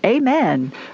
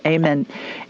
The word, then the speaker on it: Amen: Amen, but it's pronounced Amen.